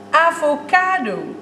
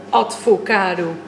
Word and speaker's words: avocado: Ja, avocado, advocaat, het lijkt op elkaar, maar dat wil nog niet zeggen dat je die twee woorden in één keer mag samenvoegen. Advocado. Wat is dat? Een advocaat die avocado eet? Het volgende woord.